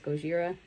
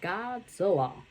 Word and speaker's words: Gojira: Also, this is where the title of the Godzilla comes into play, because even though the first guy says Gojira, the news reporter, that's a total a-hole, mispronounces it and says Godzilla.